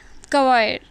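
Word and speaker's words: choir: अच्छा, अभी जो आपका आगे का वर्ड है क्वायर, तो इसको आपको जो प्रोनाउंसिएशन करना है वो नीचे लिख दिया गया है।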